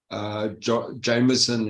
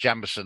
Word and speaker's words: Jameson: Yeah, I'd rather after the US markets open, take a double J Jameson instead of single one, then maybe there's more clarity for me.